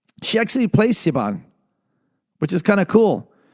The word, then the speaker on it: Siobhan: There's, I hope I'm saying this right, Siobhan Williams. I'm saying it right. She actually plays Siobhan, which is kind of cool.